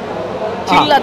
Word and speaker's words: চিল্লা: ব্যাপক লাগছে খেতে ব্যাপক আমি এটাকে খুব প্রথম ভেবেছিলাম চিল্লা চিল্লা অ্যাকচুয়ালি উচ্চারণটা সেরকম হয় আমাদের কতটা ঠিক করে